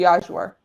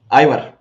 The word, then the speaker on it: ajvar: my life, would be ajvar. Ivar. This is how we say it in Ivar, but this is how we say it in Romanian. Ajvar.